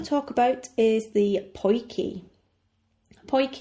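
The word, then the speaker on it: potjie: talk about is the poy poy which is spelled p o t j i e TJ I makes the sound key is short for poy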